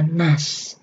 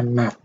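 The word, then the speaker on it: 낫: Nah, s itu dibacanya nas. Nah, tetapi secara peraturan di huruf Korea, kalau di bawah, siat itu bukan bunyinya S, teman-teman. Siat itu bukan bunyinya S, tapi kalau di bawah itu bunyinya T. Berarti dibacanya nat.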